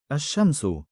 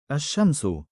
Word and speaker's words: الشمس: They are called sun letters, derived from the word الشمس meaning the sun, in which the al is not pronounced clearly. الشمس الشمس الصراط الصراط النار النار.